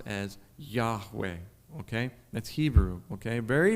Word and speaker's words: Yahweh: consonants why whw but what we now can pronounce as Yahweh okay that's Hebrew okay very very sacred and